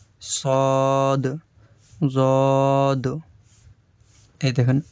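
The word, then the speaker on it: ض: এই স্টারের মতো যে চিহ্নটা, এই স্টারের মতো চিহ্নটা যে অক্ষরের উপরে দেওয়া রয়েছে, সেই অক্ষরগুলি গোল হয়ে, মুখটা গোল হয়ে বা মোটা হয়ে উচ্চারণ হবে। সদ, জদ।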